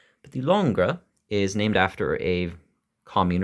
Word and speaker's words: Langres: g r s and I had a bit of trouble learning how to pronounce that but I hope I'm getting it somewhat close to correct but the longra is named after a